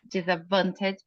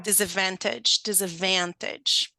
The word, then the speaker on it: disadvantaged: You don't pronounce the D there. Yeah? Disadvantaged people, yeah. Disadvantaged people.